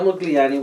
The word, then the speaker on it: Modigliani: to pronounce his name it has a g but it's not silent but it's not enunciated so amada was an italian jewish painter okay so amadeo mugliani was born on july